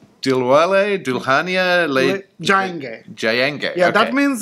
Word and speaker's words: Dilwale Dulhania Le Jayenge: So, is it pronounced Dilwale Dulhania Le Jayenge? Dilwale Dulhania Le Jayenge. Dilwale Dulhania Le Jayenge.